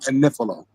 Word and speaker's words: Agnifilo: She keep pronouncing Mark. I said that because she be saying that Mark Agnifilo, adding extra syllables on this man's name. His name is Mark Agnifilo.